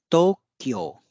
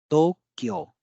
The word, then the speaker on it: Tokyo: you can see here though there is a long o That's why o is used and then we have